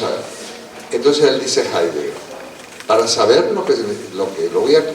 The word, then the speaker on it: Heidegger: Heidegger, en alemán, la H se aspira y el diptongo ahí es Heidegger.